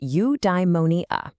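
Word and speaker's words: eudaimonia: Udimmonia. It's pronounced udeimmonia.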